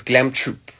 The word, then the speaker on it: Troupe: we also know that you are the founder of Glam Troupe. I hope Yes. I'm pronouncing that correctly. Troupe. Give us details of what that is about. Okay, cool. So it's Glam Troop. Troupe. Yes, Thank Glam you.